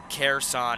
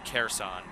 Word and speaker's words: Kherson: towards the city of Kherson. Kherson is the pronunciation. Thank you for that, Erica C. Kherson.